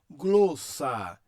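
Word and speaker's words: γλῶσσα: Eu leio, ou nós lemos, glossa, glossa.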